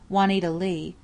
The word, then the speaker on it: Juanita Lee: used her stage name juanita lee pronounced like it was spelled plainly but she was mostly